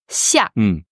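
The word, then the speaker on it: 下: Ce caractère se prononce xia. Xia. X, I, A, 4e ton donc aussi. Donc ce X qui se prononce un peu comme un xia.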